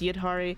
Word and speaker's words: Yidhari: I want to pronounce her name Idhari. I know it's Yidhari. I think it's both are valid. It's dependent on like whether or not you're pronouncing it the Hindu way or the Arabic way.